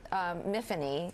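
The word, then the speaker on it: Myfanwy: And Emma, you play Miffany, who loses you got her memory. Yeah. Rhymes with Tiffany.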